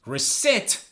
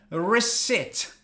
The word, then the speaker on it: receipt: Receipt. Receipt. Is there a P? No. You do not pronounce the P because it's silent.